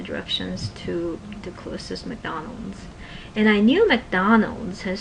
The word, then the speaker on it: McDonald's: you know in Korean McDonald McDonald it's three syllables in English but in cran it would be McDonald four syllables so I wanted to